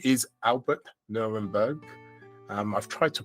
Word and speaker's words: Nerenberg: But his name is Albert Nurenberg. I've tried to pronounce that the best way I can.